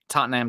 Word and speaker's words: Tottenham: Tottenham till I die.